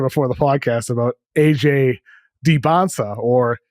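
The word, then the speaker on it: Dybantsa: Debonsa. Just forget the T's. They are silent. Debonsa.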